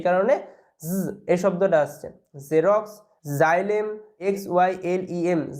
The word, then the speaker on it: xylem: জাইলেম, XYLEM, জাইলেম।